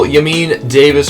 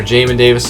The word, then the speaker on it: Jamin Davis: sorry for tackles now for the second level yamin davis or jamin davis sorry i always pronounced his name wrong he had 101 tackles was very good having a full season out of jamin davis where he got hurt missed about 60 65